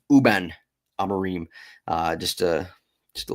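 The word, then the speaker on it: Rúben Amorim: It's uh I just learned that the R is silent for, you know, Reuben and uh Amarim. Uben Amarim.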